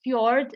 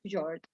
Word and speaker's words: fjord: the reason exactly but this is fjord not george i don't know the